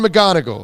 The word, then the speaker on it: McGonigle: two 11:05 we thank John McGonigle John McGonagall that's how you pronounce it from the Post